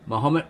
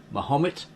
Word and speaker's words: Mahomet: The objection to this is that we now place the accent of the first syllable of the name Mahomet instead of the second, thus giving it an entirely wrong sound.